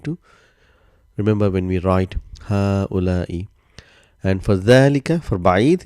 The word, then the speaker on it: هؤلاء: Ha'ula'i. So if you see what I'm saying, there's only sign of single fatha here. There's no mad, but how we pronounce ha'ula'i. Same like hada.